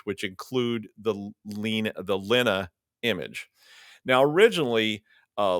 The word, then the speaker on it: Lena: name originally but it's it's German it's pronounced Lena uh with and and